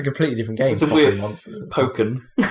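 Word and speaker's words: Pokkén: different game weird monster poken is apparently the official way to pronounce it Pok it doesn't even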